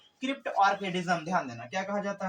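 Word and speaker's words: cryptorchidism: Crypt ऑर्किडिज्म, जिसको कुछ लोग क्रिप्टो ऑर्किडिज्म भी बोलते हैं। ध्यान देना, क्रिप्टो ऑर्किडिज्म सबसे अच्छा प्रोनाउंसिएशन इसका होता है क्रिप्ट ऑर्किडिज्म।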